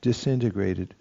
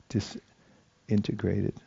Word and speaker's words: disintegrated: context of that sentence I would pronounce it dis integrated instead of disintegrated if you see what I'm saying a disintegration just